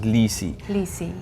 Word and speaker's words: Lisey: it would be and they they pronounce it lisey anyway i don't know if